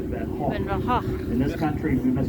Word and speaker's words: Van Gogh: And that is the correct Dutch way to say it, Van Gogh. In this country, we must pronounce it Van Gogh.